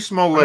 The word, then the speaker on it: Smollett: Smolliet. Juicy I'm Smollett. not To so me, sure that if the is S is silent or not.